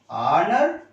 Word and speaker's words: honor: H silent is there. H silent. Dash our. Dash honor.